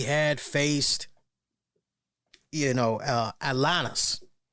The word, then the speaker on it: Atlantis: faced you know uh atanas you got to say it like that you got to say it with a nice little little twist little twang to it there right when he